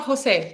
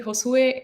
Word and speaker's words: Josue: I know it's not Jose because it has a U in it. I'm so sorry. I should have asked you how to say your name properly. So hopefully Josue is the correct pronunciation of your name.